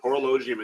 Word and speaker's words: Horologium: go all right so constellation horologium is actually horologium is what is is how it's actually pronounced thank you so much because I am usually good with that and apparently not this time oh so horologium in the southern hemisphere so let's go ahead